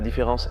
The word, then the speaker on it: différance: Notez que je le prononce normalement, mais qu'il l'écrit avec un « a » au lieu d'un « et ». En français, la différence est inaudible à l'oreille. Elle ne se voit qu'à l'écrit.